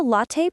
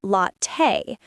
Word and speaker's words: latte: Better to say, could I get a latte, please? Yeah, that one's softer. English speakers like using polite forms. It makes the conversation smoother. And don't forget pronunciation. Many students say latte, but it's actually latte.